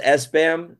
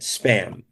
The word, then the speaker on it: SBAM: Is it SBAM or Spam? Everybody says SBAM. They pronounce it Spam.